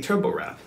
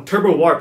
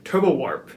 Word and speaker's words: TurboWarp: loading screen it's actually turbo wrap turbo wrap no turbo warp I'm so sorry I keep saying it wrong turbo warp that's right scratchgo is actually built